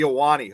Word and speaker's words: Ahwahnee: national park's most luxurious lodging option was the alani hotel the iwani hotel that's how it's supposed to be pronounced built in 1927 the high-end hotel was